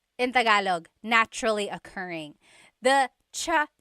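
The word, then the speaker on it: tsaa: that you drink and it's spelled TSA a cha cha that's such a talug spelling I love it there's the TS sound and then the double vowel uh pronunciation cha it's so talog yes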